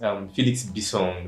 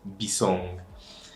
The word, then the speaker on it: Bissong: Bissong, that's the pronunciation of the name. Bissong.